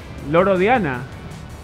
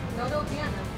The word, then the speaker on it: Loro Piana: Sí, ¿cómo lo pronuncia? Loro Diana. ¿No? ¿Es una D? ¿Es una P? ¿Dónde P? Loro Piana.